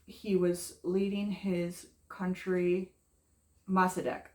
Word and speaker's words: Mossadegh: Mossadegh. He was progressive. He was leading his country. Mossadegh, I think. He was leading his. That's at least how we pronounce it in the United States.